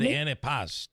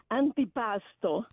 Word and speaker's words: antipasto: Oh, he said antipast. Did I say it wrong? Oh, okay. I didn't know what you mean. You say antipasto.